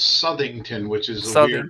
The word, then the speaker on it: Southington: also owner of hemlock hills rv sales in sallington connecticut did i get that right chris yeah pretty close it's everybody uh it's southington which is your pronunciation for the way it's